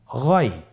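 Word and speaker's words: غين: এভাবে উচ্চারণ করা যাবে না, যেহেতু হরফটি মোটা, এই জন্য মোটা করে উচ্চারণ করতে হবে গইন।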